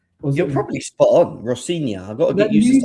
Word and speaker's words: Rosenior: Oh, can you tell me because I I don't I don't I think it's Rosenior. You're probably spot on. Rosenior.